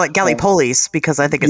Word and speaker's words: Gallipolis: And Gallipolis is the little town, however they pronounce it these days. Gallipolis. I call it Gallipolis because I think it sounds cooler.